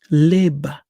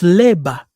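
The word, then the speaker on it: לֵבָב: What we also see here, okay, in the Hebrew Masoretic text, the strong, leba. The B at the end is silent, so we don't pronounce that, right? In the Bantu, so it's leba in Kikongo, leba.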